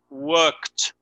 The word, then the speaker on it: worked: pasado de work es worked. Agregamos el ed. Fija la pronunciación de en este caso la pronunciación es worked, worked. En este caso la pronunciación del ed es como un t.